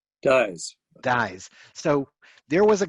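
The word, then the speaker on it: Dies: Is it the chair of HUAC, the House Un-American Activities Committee, is it Congressman Dees or Dyes? Dyes.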